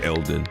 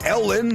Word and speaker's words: Elden: He's going to say oo Elden. There we go. He's going to say it perfect. Not Ellen. That's not a not Ellen. E machine is not an Ellen Degenerous super fan.